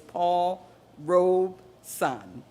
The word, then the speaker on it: Paul Robeson: First of all, I'm going to tell you the correct pronunciation. It is Paul Robeson.